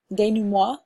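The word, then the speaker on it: dénouement: get it right but Dana moi it's a French word I've been calling it the denounce at all night I say things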